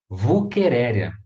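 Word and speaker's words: Wuchereria: biologia que aparece né se escreve uchereia mas a gente vai para anunciar vulquereria ah é verdade vou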